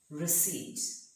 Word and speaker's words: receipt: Receipt. So here the P is silent. It's not receipt, but it is receipt.